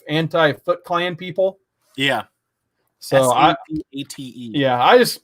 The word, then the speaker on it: Savate: So S-A-V-A-T-E. Yeah, I just pronounced it Savate because it sounded cooler in my head.